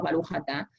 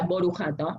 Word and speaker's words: Baruch Atah: Está el sefaradí, como nosotros decimos Baruch Atah, está el ashkenazí, que sería Borujato, pero está la tercera forma de pronunciar, que es una acentuación más húngara, que es Burij Atu.